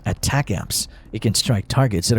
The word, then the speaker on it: ATACMS: is a long-range missile and is pronounced as attack amps it can strike targets